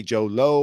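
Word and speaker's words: Jho Low: I don't know how to pronounce this guy's name. It's Jholow. I say Joe Lo or Joe Lao.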